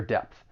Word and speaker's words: depth: It ends with that voiceless th. It's very slight but you should pronounce that voiceless th.